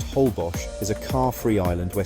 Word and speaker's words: Holbox: Isa Holbox, pronounced Holbos, is a car-free island where sandy streets replace roads and golf carts are your main way of getting around.